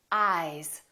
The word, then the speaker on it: eyes: Ice, eyes. Listen to the difference. Ice, eyes. This S is actually pronounced as a Z sound. This is actually Z, Z. This is voiced, and S, this is voiceless.